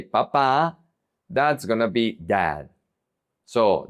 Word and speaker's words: papa: P, papa. This is not dad. Papa is potato, papa. If you change the emphasis and you say papa, that's gonna be dad.